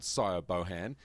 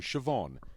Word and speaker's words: Siobhan: But of course, there is no guy called Sio Bohan. It's her female friend, Siobhan. He just didn't know that's how you spell it.